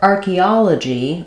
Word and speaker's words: archaeology: English spelling patterns so for archaeology G we have the stress on the third syllable a and letter O